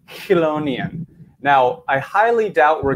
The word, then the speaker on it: Chelonia: right now it's a word that is often mispronounced many throughout the world say Chelonia are chalo nians when you refer to turtles tortoises sea turtles and Terrapins but the correct pronunciation of this word is colognian so interestingly enough I was chatting with one